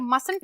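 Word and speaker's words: mustn't: जहां में रखती है जब मसलत बोलेंगे तो टी को हम रखेंगे इस टाइम पे साइलेंट यह टी हो जाएगा बिल्कुल गायब ये इसको रखेंगे हम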